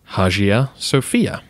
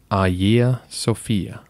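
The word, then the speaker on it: Αγία Σοφία: like it should be said hajiya sophia but we lack the soft g sound which you would find in greek and we use the letter h which they do not in modern greek the pronunciation should be a year sophia thank you so much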